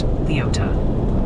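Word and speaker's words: Leoti: Oh, and the Kansas delegation in chat is politely but firmly insisting Leote is pronounced Leota.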